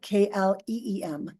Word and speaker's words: klim: to get quiet gleam it's spelled k i KL i m but it sounds like kleem gleam gleam gleam just